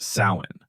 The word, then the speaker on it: Samhain: The Celts celebrated a festival called Samhain, pronounced Samhain.